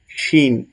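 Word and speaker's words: شين: আমরা যেমন বাংলাতে উচ্চারণ করি ছ এবং দন্ত স, ঠিক সেরকম ভাবেই শিনের উচ্চারণটা দন্ত স দিয়ে হবে।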